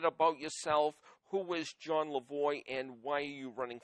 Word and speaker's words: Lavoie: Is your name pronounced Lavoie? That's correct. Okay. Unless you're in Quebec, then it's Lavoie.